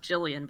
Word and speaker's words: Gillian: went wherever he was that's pronounced jillian by the way gillian jillian whatever look she start on